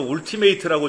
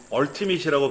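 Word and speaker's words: Ultimate: 우리말로 울티메이트라고 적혀 있던데 얼티밋이라고 발음이 되는데 얼티밋 버전이나 프로페셔널 버전은 기능이 또 강력해요.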